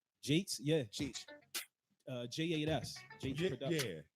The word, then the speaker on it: J8S: That's how you pronounce that. Jake's, yeah.